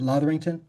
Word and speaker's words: Lotherington: And how did you pronounce it? Lotherington?